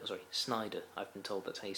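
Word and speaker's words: Sneijder: the likes of Wesley Schneider sorry Snyder I've been told that he's supposed to pronounce it by a Dutch person then you pronounce it it's not Schneider it's Snyder just throwing that out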